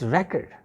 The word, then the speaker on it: record: are talking about noun it's record the stress will be at the first syllable track it but when this word would be with the verb the stress will be on the second syllable it will be record